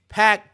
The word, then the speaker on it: PAC: As for talking about Pac, I think Manny and I said this Pac. on it's pronounced Pac, but it don't matter what his name is.